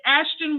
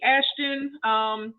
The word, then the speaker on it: Aschten: It's Aschten Waters. You should see Aschten. That's a very unique finger. Yeah, that's how it's spelled. It's spelled like Ashton Kutcher, just spelled a little differently.